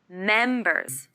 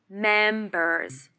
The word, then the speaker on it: members: with how many questions here the stress is on the first syllable and remember to use the final z sound members members are are